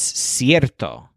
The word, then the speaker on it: cierto: to say it's certain he says is cierto kind of like certain but with a stress on air this word is in